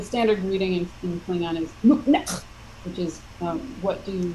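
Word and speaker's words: nuqneH: Klingon speakers and say "Nuknek," right? I mean, I have to. Is that I pronounce it right at all, or is it? Yeah. It's a little more forceful on the neck.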